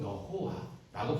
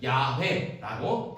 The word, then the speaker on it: 야훼: 그러니까 여호와라고 하는 이름은 정확한 이름이 아니라는 거죠. 그래서 학자들이 오랜 세월 동안 연구를 했습니다. 연구를 해보니까 그 발음이 하나님의 이름 써 있는 그 자음의 발음이 야훼일 것이다. 그렇게 이제 연구 결과가 나옵니다. 그래서 지금은 하나님의 이름을 야훼라고 대부분 인정합니다.